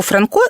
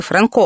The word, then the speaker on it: Франко: польських часописах До речі якби Франко обрав Польщу то називався б Франко так прізвище наголошували в Нагуєвичах рідному селі мицця вже переїхавши до Львова письменник українізував своє прізвище та змінив наголос А ось інший код